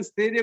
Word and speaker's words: स्थैर्य: स आदो है ना? हाँ, स के ऊपर 2 मात्रा आई की। स्थैर्य, स्कूल की तरह आएगा, स्कूल की तरह स्थैर्य।